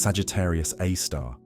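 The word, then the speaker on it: Sagittarius A*: Our own Milky Way harbors a black hole called Sagittarius A star, pronounced Sagittarius A star, with a mass of about 4 million times that of our Sun.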